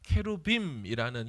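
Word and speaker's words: כרובים: 그룹이라는 것은 천사를 말합니다 케루빔이라는 히브리 발음인데 그것을 한글로 번역할 때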